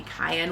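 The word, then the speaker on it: Kyan: And then the end papers in the back I think are going to be Cayenne, which is spelled like Ryan with a K instead of an R.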